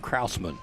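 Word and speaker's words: Krausman: Running back again was Kraman. Yep. So that would be Tucker. K R A U S M A. And Kraussman will be his pronunciation for the ball game.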